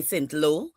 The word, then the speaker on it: Saint Lot: Sometimes people say Saint Lo, but it's spelled like Saint Lot. So her pronunciation for it is Saint Lo because they're Haitian.